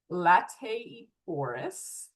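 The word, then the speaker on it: Laetiporus: That's Lateiforus. Just pronounce every vowel and say it with confidence.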